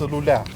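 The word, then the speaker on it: Luleå: and yes, it's pronounced lulea, that's what everyday people and Swedes say, it's absolutely gorgeous here,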